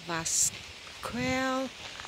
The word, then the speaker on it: Vascoeuil: This is the castle Vascoeuil. Well, that's French pronunciation, and in this beautiful, beautiful setting, yeah, in the grounds, with lovely sculptures by a renowned artist.